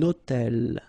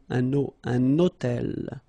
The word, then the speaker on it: hôtel: So you can see I'm making this little liaison between the two.